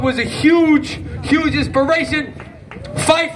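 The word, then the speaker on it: Phife: a huge huge inspiration fife rhymes with mike and my rip my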